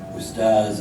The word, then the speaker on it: Ustaz: Ustaz Mahmud, Ustaz, an honorific in the Sudanese Arabic pronunciation of the word for teacher, often visited Abu Haraz